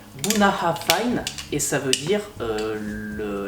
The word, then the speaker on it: Bunnahabhain: une très jolie carafe alors bouna bein ça se prononce en gaélique bounahra payne et ça veut dire